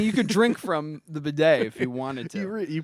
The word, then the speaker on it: bidet: so I mean you could drink from the bidet if you wanted to you probably could but